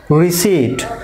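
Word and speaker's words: receipt: That means এখানে পিটা silent থাকবে, পি সাইলেন্ট, পি এর যে সাউন্ড সেটা সাইলেন্ট থাকবে, হবে রিসিট।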